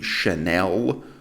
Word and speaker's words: Chanel: of allure hom by channel channel channel it's one of the pleasures of being a woman the fact that he can't pronounce the brand name chanel normally wouldn't bother me